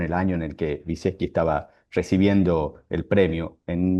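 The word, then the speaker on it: Wyszecki: Viseski, así es más o menos se pronuncia, ¿no?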